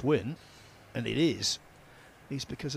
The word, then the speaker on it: Nguyễn: regard well of course the one name that can really confuse is wi spelled ngu Yen I was telling the story yesterday in commentary with Carl I'll tell it again the reason I know it's win and it is he's